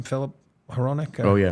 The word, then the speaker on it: Hronek: Philip Hronek? Oh, yeah, Hronek.